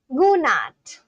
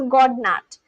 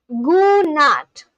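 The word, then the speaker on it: god natt: And so today when I end my stream, I'm going to say gonat. The d silent not slightly emphasize t sound.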